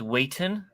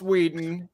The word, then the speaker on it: Whedon: he's he's dreamy uh you said it wrong his last name's Wheaton zax loves the weak sarcasm no it's Joss Whedon and Brendan Frazier